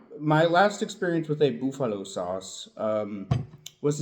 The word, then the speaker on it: búfalo: Sorry, I should not say buffalo. Boufo is the Spanish pronunciation.